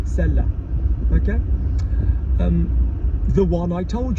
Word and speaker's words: celle-là: That one there, celle hyphen la, with an accent on the A, celle-là.